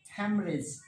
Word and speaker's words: haemorrhage: चाहिए, hammer hedge होना चाहिए, लेकिन है ये हैमरेज, ब्रेन हैमरेज हो जाता है ना, तो हैमरेज इज, ठीक है। HAEMO, देखो कैसी स्पेलिंग है, ये याद रखनी चाहिए, कई बार